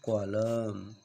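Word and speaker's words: column: एल यू एम एन इसको हम कॉमन नहीं बोलेंगे इसको हम बोलेंगे कॉलम क्या बोलेंगे हम इसको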